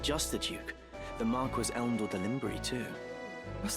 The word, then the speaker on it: Marquis: Marquis. This is the right pronunciation.